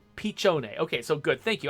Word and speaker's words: piccione: that little white bird is a pun on piccione which is italian for pigeon pronounced pichone okay so good thank